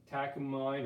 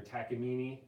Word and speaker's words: Takamine: Takamine or Takamine, depending on how you want to pronounce it.